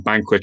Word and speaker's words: Bankuet: So as Tim has said, get on Banquet, which is spelled funny, but you can see it in the comments, Bankuet.